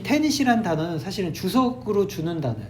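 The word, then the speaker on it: tenet: 애덤 스미스의 보이지 않는 손이 대부분의 경제학에 있어서의 근본적인 테닛이다. 테닛이란 단어가 조금 어려운데 선생님 이 테닛이란 단어를 좀 쉬운 단어로 바꿔드릴게요. 자, 바꿔보겠습니다. 철자는 테닛. 이게 철자가 이지만 발음은 I로 소리가 나요.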